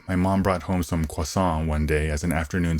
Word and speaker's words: croissant: was when american fans teased him for pronouncing croissant the flaky french pastry like hwasong i'm no french major but i assume that pronunciation is closer to the real french than the american croissant i can relate when